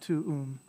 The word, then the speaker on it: tuum: But yeah, you say it quickly, it sounds like they run together, tuum. It sounds like it's just one syllable. But it's actually two, right? Tuum.